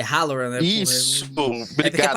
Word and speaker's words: Halloran: É Halloran, né? Isso, obrigado, é porque é parecida a GG. porra da pronúncia.